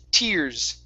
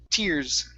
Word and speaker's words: tears: to this word here instead of tears this is a long e sound it's tears tears there you go okay